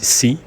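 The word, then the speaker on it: 四: En effet, 4, ça se dit si, désolé pour la prononciation en chinois et c'est la même chose que le mot mort.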